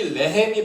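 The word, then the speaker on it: לֶחֶם: 이 레헴이 빵인데 밑에 그 점이 보면 3개씩 달려있죠. 3개씩 쩍쩍쩍 이게 찍혀져 있죠. 이게 에 발음인데 그래서 레헤메라고 발음되는데 이 밑에 점을 앞에 거만 이렇게 바꾸면 라햄이 되거든요.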